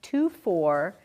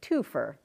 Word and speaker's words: twofer: So Fritz Frank is saying it's not pronounced two-for. It's pronounced the real Canadian way, twofer.